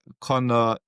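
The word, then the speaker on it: Conaire: And um for me you can find me at um Connor Dev. However it's spelled C O N A I R E. Dev. Um, I spelled it the old Irish way cuz I thought that's quirky.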